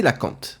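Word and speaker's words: cœlacanthe: petit subterfuge mais voilà ça se prononce bien c'est la cante c'est un poisson appartenant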